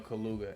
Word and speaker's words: Kaluuya: I think it's Daniel Kaluuya. That's how you say his name.